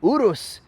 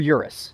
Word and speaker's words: Urus: are driving this 2023 Lamborghini Urus s or Urus if you're American but I know that